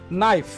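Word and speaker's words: knife: তারপরে একটি ওয়ার্ড আছে দেখুন নাইফ, নাইফ মানে হচ্ছে ছুরি, কিন্তু আপনি কিন্তু কখনোই বলবেন না কে নাইফ, আপনার এই কেটা থাকবে ফুললি সাইলেন্ট, আপনি কেটা মুখ দিয়ে কোনো ক্রমে উচ্চারণ করতে পারবেন না, কোয়াইট ইম্পসিবল।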